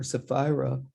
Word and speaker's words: Sephira: or Sephira, rhymes with Delilah, brings 30 years plus experience as an educator, administrator, trainer, and motivational speaker to our program.